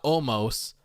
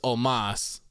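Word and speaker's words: Omos: his name wrong so it's not almost it's omas so kind of like having an a instead of an o there i don't know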